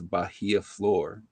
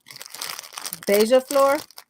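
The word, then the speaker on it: beija-flor: Kelly referred to as Bahia floor okay that's not you pronounced that we know I know okay it's it's pronounced beija Deja floor Deja floor um that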